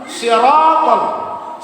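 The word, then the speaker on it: صراط: Ini hurufnya bukan sin tetapi sod. Siratal. Soalnya hurufnya sod. Siratal ladzi, bukan si, zi, hurufnya zal.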